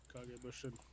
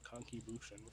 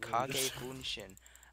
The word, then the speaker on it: Kage Bunshin: Kage Bunshin, not Kanki Bunshin. I said Kage Bunshin.